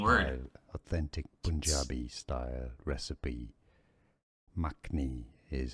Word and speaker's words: makhni: Makhni is how we pronounce the Makhni, second word.